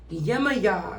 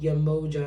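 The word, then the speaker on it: Yemaya: is coming out ooh yamaya is coming out love her uh solange is the daughter of crown daughter of yamaya uh someone calls someone pronounces it yamoja and it just drives me crazy okay what love messages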